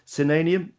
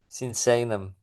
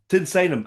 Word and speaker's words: Sinsaenum: I can never say it properly you know senium. Am I saying it correctly? No. Pronounce it for me. Senum. Senum.